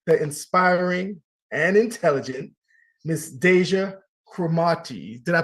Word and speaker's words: Deja Cromartie: lipstick please welcome the inspiring and intelligent Miss Deja kramati did I pronounce it correct yes you did you did